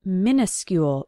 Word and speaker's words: minuscule: very very small now it sounds like minuscule when we pronounce it so you might think it starts with m i n i because we do use